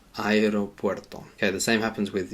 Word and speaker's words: aeropuerto: In Spanish, we do have to pronounce both of those vowels separately. Aero, aeropuerto, aeropuerto.